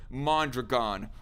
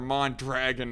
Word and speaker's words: Mondragon: united states and whatnot was a company called mondragon or mon dragon as destiny keep on it kept on pronouncing it as because he's too much of